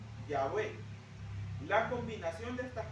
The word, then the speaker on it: Yahweh: O sea, las letras hebreas Yud, Kei, Vav, Kei, que posiblemente se pronunciaban Yahweh.